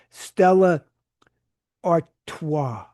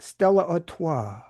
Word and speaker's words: Stella Artois: A major partnership to promote Budweiser, Corona, Stella Artois. That's how you say it. I had to look it up. Stella Artois.